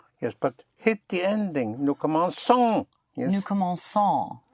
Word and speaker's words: commençons: Nous commençons. Nous Yes, but you hit the ending. Nous commençons. Nous commençons. Once more? Nous commençons. Son. Nous commençons. Yes, but hit the ending. Nous commençons.